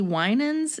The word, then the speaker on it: Winans: to performing with, I think, BB and CC Winans.